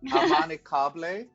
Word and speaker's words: Amanikable: Do it by syllables. That's the technique. Amanicable.